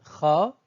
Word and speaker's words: خ: En ce qui concerne la 7e lettre, Kha, elle se prononce d'une manière identique à la Jota de l'espagnol. Il suffit d'imaginer qu'on a un chat dans la gorge tout en répétant Akh, Akh, Akh.